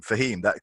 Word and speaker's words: Fahim: And my first name, Fahim, the alternate pronunciation is Fame.